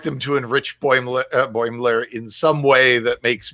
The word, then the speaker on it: Boimler: I think that's one of the things that Freeman calls him actually is Bremler.